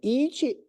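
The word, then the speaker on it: 一: Esse it, I-C-H-I. It, por isso que tem esse som do T.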